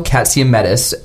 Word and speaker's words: Katsiametis: his name is katsiamedis and he's with us today welcome to the show Thanks thanks for saying my name the right way yeah Matisse that's it Jane King's a little